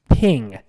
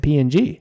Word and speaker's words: PNG: portable networks graphics and always pronounced ping what else are you gonna know you pronounce be ng P well I didn't I just always said P and G yeah I I know